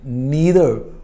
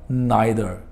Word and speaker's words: neither: इसी से फिर हमारा जो नेक्स्ट वर्ड है दैट इज जी नीदर और नाइदर, NEITHER इज नीदर, इट can also be pronounced as नाइदर, both are correct pronunciations.